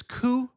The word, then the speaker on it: coup: You've probably heard of these terms like and this the word this pronunciation of this word is coup.